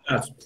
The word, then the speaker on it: Gladston: Uma sílaba de 5 letras, Gladstone, o D tem que ser mudo, Gladstone.